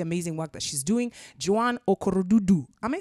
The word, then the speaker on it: Joan Okorodudu: Joan Okorodudu.